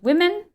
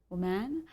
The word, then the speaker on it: women: This time it's about men and women. Be cautious with the pronunciation. Yeah, it's the plural, so men and women, not man and woman.